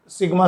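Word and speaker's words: sigma: Surface charge density सिग्मा से प्रदर्शित करते हैं, आधा ना की तरह बनता है हिंदी के, ये इसका उच्चारण है सिग्मा।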